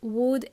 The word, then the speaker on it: would: We are going to use words could, would, and may. They help us sound more polite. Remember, could and would, L is silent. We don't pronounce the L.